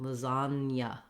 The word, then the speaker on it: lasagna: letter for it, but we do have the Y sound after the N. Lasagna, lasagna. Spanish speakers will recognize this as being similar to this sound in Spanish, ña. But it is two syllables, lasagna, lasagna. So that ña goes together. And it's spelled with GN in this case, and the sounds are the N and the Y.